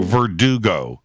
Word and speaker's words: Verdugo: I'm in, is it pronounced Verdugo or Verdugo? Verdugo.